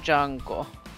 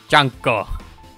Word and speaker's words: Junko: Anda is really dead how did you pronounce it last time jungo junko yes junko I don't know where